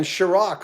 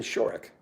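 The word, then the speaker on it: Shorrock: it was fry uh glenn sharok of a little rubber band it's glenn shorick oh i could go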